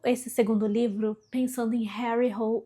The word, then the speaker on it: Harry Hole: Mas aí eu pensei, calma, gente, isso aqui é muito inglês e o cara é norueguês. Então eu investiguei e descobri que a pronúncia é Harry Hole.